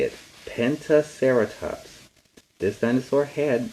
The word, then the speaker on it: Pentaceratops: Pentaceratops. This dinosaur had 5 horns. They were all on its face. Its name is Pentaceratops.